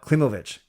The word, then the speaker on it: Klimovich: Lindsay says, per himself, it's pronounced Klimovich. Klimovich, not Klimovich. Klimovich, thank you. Like Ovechkin and Podkolzin.